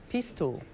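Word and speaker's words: pistou: Jude, your word is pistu. I have language of origin. Pestu. It is the word is from a word that went from Latin to Provençal to French. Pestu. Pistu.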